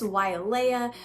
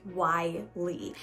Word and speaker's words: Wyelea: Now you may think it's Wyelea, but it's actually pronounced Wylie.